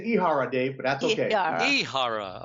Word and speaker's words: Ihara: Actually, it's Ihara, Dave, but that's okay.